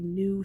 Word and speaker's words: knew: and it becomes new because this K is silent because we know KN says hmm but this is new as if you knew something or you knew